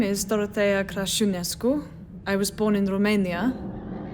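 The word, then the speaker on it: Crăciunescu: My real name is Dorothea Crasciunescu.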